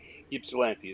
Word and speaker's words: Ypsilanti: Ypsilanti is how that's pronounced.